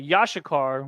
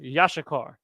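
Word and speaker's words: Issachar: we don't say shikar there's no pause in between the sh that's pronounced here and the Shah is pronounced here it's just yashikar so we take that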